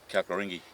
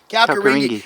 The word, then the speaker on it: Kalkaringi: It's just, How do you pronounce it? Because I'm not good with the tongue again. Kalkaringi. Kalkaringi.